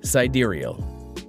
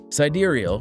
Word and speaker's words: sidereal: of wise name or other information sidereal is pronounced sidereal sidereal which grimes defines as the signals of the